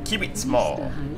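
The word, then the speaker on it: Kiwittsmoor: Next stop, Kivitzmoor. Sorry, I forget the W is a V in German, isn't it? Technically, it's pronounced as a V.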